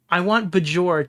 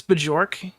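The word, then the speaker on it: Björk: Is this Bjork? Or did I spell it wrong? Yes, pronounce it like put a Y.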